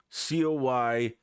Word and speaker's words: coyote: not coyote is because in the english language we don't normally say the e at the end of words for instance like we